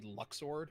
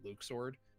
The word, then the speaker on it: Luxord: It's supposed to be Luxord, but I pronounce it Luke sword.